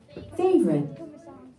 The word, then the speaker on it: favorite: It's a sight word, so we cannot sound this word out. But when you try to spell it, you can remember spell it fave or and then ite with a e that jumps over to make the I long. But the word is favorite.